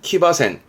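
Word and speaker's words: 騎馬戦: 발음은 키바센.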